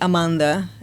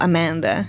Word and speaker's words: Amanda: In Brazil, I'm from Brazil. In Brazil, they call me Amanda. And when I'm saying my name in English, I go Amanda.